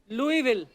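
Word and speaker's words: Louisville: आज आगे तभी बढ़ेंगे लुईस जब लिखा है तो स क्यों नहीं बोल रहे जैसे नाइफ में क साइलेंट होता है के साइलेंट होता है वैसे वो तो के पहले आता है ये तो बीच में घुसा हुआ है बट कई बार लुईस प्रोनाउंस होता है एस के साथ और कई बार नहीं और वो कई क्यों नहीं होता है कब होता है ये मुझे पता नहीं है मेयर ऑफ लुई विले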